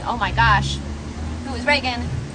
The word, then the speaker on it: Regan: Yeah, at Regan, it's Regan. Like the president. Like the president's not spelled like the president, but that's how you say it.